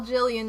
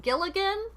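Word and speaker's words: Gillian: I tell you guys, when you spell Jillian with a G, everybody's like, Gilligan? It's like, no, what? And I couldn't not spell it with a G, because she's named after somebody, so whatever.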